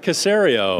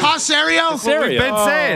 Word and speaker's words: Caserio: the general manager of the Houston Texans Nick cerio C Caserio Tom Brady said sario he doesn't know yeah